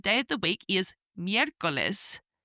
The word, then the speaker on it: miércoles: And third day of the week is miércoles, miércoles, Wednesday, which is spelt M-I-E, and the E has a little accent on the top, R-C-O-L-E-S, miércoles.